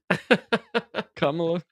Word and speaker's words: Kamala: If you just one more time, Kamala, Kamala.